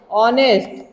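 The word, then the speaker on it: honest: पर इसका उच्चारण करिए, जब इसका उच्चारण करेंगे तो क्या पढ़ेंगे, ऑनेस्ट। यहां पे ह साइलेंट रहता है, एच क्या रहता है, साइलेंट रहता है, ऑनेस्ट।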